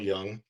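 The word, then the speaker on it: Jung: on uh the psychologist Carl Young. It's spelled J U N G.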